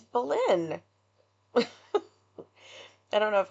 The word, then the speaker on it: Belen: did on this case, and both of them pronounced it Belen. Yeah. And I was like, it's Belen.